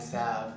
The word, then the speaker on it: salve: The L is silent, hand salve, right?